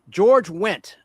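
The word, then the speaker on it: George Wendt: George went spelled with a D. The D is silent.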